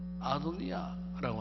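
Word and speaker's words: 아도나이: 모험부를 서는데 그 모험부에다가 뭐를 기록하느냐면은 아도니아 아도니아라고 하는 모험부를 붙여요. 분명 문자 자체는 야회인데 읽기로는 야 읽지 않고 아도니아라고 불러요.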